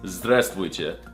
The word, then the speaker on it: здравствуйте: No, that's not how you say it. It's здравствуйте.